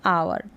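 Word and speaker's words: hour: हो जाएगा हा यहां पर साइलेंट है अवर मतलब कितना घंटा हुआ है ऐसे बोलते हैं घंटा उसको बोलते हैं अवर तो यहां पर अवर प्रनंसीएशन है नेक्स्ट देखें और हा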